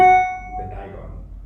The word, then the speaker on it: Diagon: so how do you say his name the dieon the Dion all right we're going to start you guys